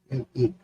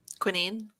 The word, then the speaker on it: quinine: How do you pronounce that? Quinine. Quinine? Quinine.